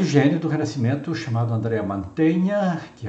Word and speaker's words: Mantegna: mais importantes do renascimento mantenha que se escreve com g e que é como o verbo manter mantenha a pronúncia é e ele faz